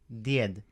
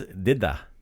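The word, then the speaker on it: djed: to say Santa Claus but grandfather is died did so last episode we learned how to say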